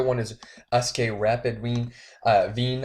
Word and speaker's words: Wien: is SK Rapid Wien, Wien, I believe. I'm pretty sure they pronounce their W's as V's.